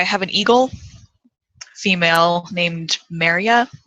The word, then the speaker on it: Merja: But so I have an eagle female named Maria. That is spelled Merja. But the J is pronounced as a Y.